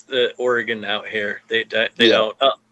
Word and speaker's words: Oregon: about um was it I was calling it Oregon. Kept calling it Oregon and I just had to be like dude Oregon.